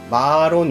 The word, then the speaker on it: 마론: 이름은 마 아룬 이에요 말을 늘려서 마론 이라고 발음을 해야 해요 핫 아까 나도 다르게